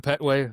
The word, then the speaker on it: Petway: I'm sitting here with Pway.